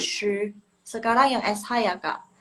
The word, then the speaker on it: 十: Shi, lidahnya gantung. Shi, 十 shi, 十 jangan kebuka. Tetap munyung gini. Apa sih bahasanya? Gini. Shi, 十十 Tuh. Ya. Seperti itu. Emang agak lebay sih, tapi emang begitu pelafalan yang benernya. Shi, oke? Ingat ya. Shi, ingat lidahnya gantung.